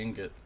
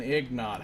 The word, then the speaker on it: ingot: an iron ignite ignite only noobs say ingot noobs and people who like to pronounce things the way they're actually pronounced but I'm calling it an egg nod how do I get